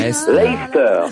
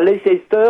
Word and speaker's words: Leicester: Leicester. On prononce pas Leicester, on dit Leicester.